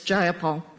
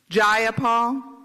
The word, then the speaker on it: Jayapal: it was just jayapal if you're gonna say my name please say it right it's jayapal jayapal do you would you